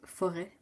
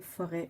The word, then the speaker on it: forêt: It still bugs me that I can't pronounce forêt. Really? Forêt. No, it's not forêt, it's forêt. The E. Forêt. Forêt. No, forêt. It's more like EH than the AI sound.